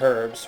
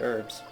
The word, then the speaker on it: herbs: American English, the H is silent, but in British English, the H is pronounced. English people say it herbs, we say it herbs.